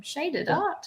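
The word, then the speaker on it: ShydedArt: e d a r t that's my name shaded art shaded was always shading your Instagram handle no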